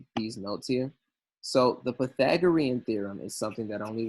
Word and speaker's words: Pythagorean: with me Pythagorean theorem actually the academic scholarly guys say Pythagorean pipe like Python Pythagorean theorem alright enough